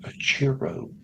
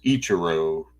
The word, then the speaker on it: Ichiro: my thoughts on Mr a Cho here we go mispronouncing names again it's Ichiro but um guys you